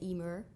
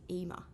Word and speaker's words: Emer: say Emer em but because I'm from Essex and I don't really say my RS I say EMA EMA yeah good sign so it depends where you're from how you would say my name really okay good well